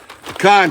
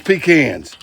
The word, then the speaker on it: pecan: Some people pronounce this pecans. Let me tell you something. I don't want your pecans anywhere near my food. That's just unsanitary. All right, this is pecan chips. That's how we pronounce it around here.